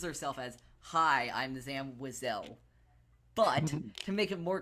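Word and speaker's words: Zam Wesell: It's Zam Wessel. Okay. Is that the right pronunciation?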